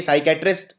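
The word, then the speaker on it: psychiatrist: क्योंकि इसमें P silent होता है। क्योंकि साइकेट्रिस्ट जब हम बोलते हैं तो स पी नहीं पी का उच्चारण नहीं किया जाता।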